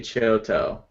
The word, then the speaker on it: Picciotto: I looked it up the correct fernance pronunciation is gay Picciotto keep it chill tow guy you know okay so